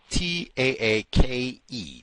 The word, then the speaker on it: Taake: His last name is T-A-A-K-E. T-A-A-K-E. Andrew Taake, I guess is how you say it. Taake, whatever it is.